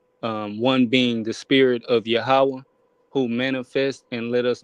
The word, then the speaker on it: Yahweh: I personally reference as the Tetragrammaton will be pronounced or enunciated Yahweh.